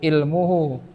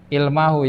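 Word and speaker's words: عِلْمُهُ: Ilmuhu, ilmunya, ya. Ya, jadi bacanya jangan nafani Zaidun ilmahu, jangan, tapi ilmu.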